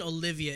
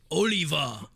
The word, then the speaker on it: Oliva: ] stupid yeah and his name isn't Olivia it's Oliva Oliver Oliver yeah it's Oliver spelled with a at the end ok mr.